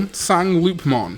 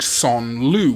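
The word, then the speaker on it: Sangloupmon: Then we've got what I call Sangloopmon. Technically, the pronunciation should actually be something like Son Lu, which is more correct for French.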